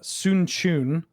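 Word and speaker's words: Sun Quan: And then the second one is Sun Chun, which is spelled Sunquan, which is a 6 mana 4/4 in blue that has horsemanship and gives everything else horsemanship.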